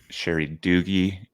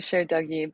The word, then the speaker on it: Cher Dougie: And today we have a very special VJ, Sherry Doogie. Is that how I was supposed to pronounce it? Cheryl Doogie. It's actually Cher Dougie, but that works too.